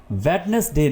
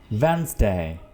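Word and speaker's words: Wednesday: वेडनेसडे नहीं होता, वेंसडे।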